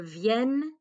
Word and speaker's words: viennent: Nous venons, vous venez, ils viennent, elles viennent. Okay, so we do pronounce those two N's there.